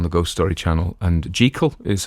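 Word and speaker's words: Jekyll: ghost story channel and jal is how it was supposed to be pronounced and that is apparently the Edinburgh pronunciation and he knew somebody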